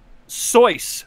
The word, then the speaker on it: Seuss: wrong yeah it says seuss intended is not soos that rhymes with zeus but soyuz that rhymes with voice source